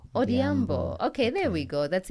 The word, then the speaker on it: Odhiambo: So you'll probably say Odhiambo. Odhiambo.